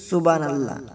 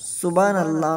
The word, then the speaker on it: সুবহানাল্লাহ: আমরা অনেকেই অশুদ্ধভাবে উচ্চারণ করি, বলি সুবহানাল্লাহ। সুবহানাল্লাহ নয়, বলতে হবে সুবহানাল্লাহ সুবহানাল্লাহ।